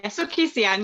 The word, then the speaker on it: Sukhi Sian: I said that right. Hi, yeah, Sukhi Sian, yeah, you said it right.